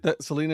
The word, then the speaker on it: Salina: Cuz I said Selena. It Selena is correct.